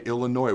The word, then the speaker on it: Illinois: two weeks we play Illinois where the S is silent it's a Friday night